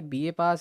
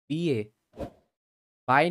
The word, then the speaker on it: Bihe Pass: बीए पास है वो, बीए बाय नहीं है, बीए पास है।